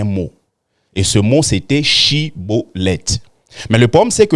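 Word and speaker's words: Shibboleth: Eux, au lieu de dire Shiboleth, ils disaient Siboleth.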